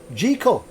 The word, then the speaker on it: Jekyll: contessa says that um jekyll is pronounced jiko dr jekyll and mr